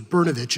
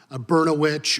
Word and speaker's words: Brnovich: fourth grade that I realized my name was berovic and not bertch or brosaurus vich or any other words that rhyme with that and that's just what